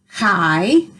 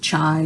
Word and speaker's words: chi: hi it's spelled c-h-i and you're supposed to pronounce it hi okay but you can pronounce it chai or however you want to you just need